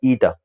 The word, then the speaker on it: eta: Okay, eta is nothing but this symbol is pronounced as eta.